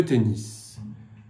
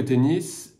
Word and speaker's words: tennis: Jouer de tennis. On ne dit pas jouer de tennis, mais jouer au tennis. On prononce d'ailleurs tennis et pas tennis.